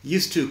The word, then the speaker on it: used to: Used to como que se junta. Y se pronuncia used to como si fuera una T en medio.